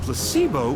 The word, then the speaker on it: placebo: after me placeo H the stress is on the middle syllable very good you're figing interest well a placebo is a pretend pill